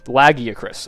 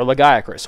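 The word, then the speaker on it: Lagiacrus: a tier is uh lag acris or legris or I found a new pronunciation the other day i' had never heard before laggy acis said just like that I've never heard that so we're saying that one now too but he him and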